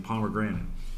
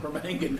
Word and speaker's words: permanganate: I'm all over this potassium pomegranate. Oh, yeah. Permanganate. I believe that's pronounced permanganate. Yeah, that's what I said, yeah.